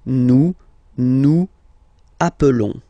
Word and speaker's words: nous appelons: Okay, nous appelons, and then little link would be perfect. So let's pronounce the whole thing again. Nous appelons. Nous appelons. Okay, final s doesn't exist.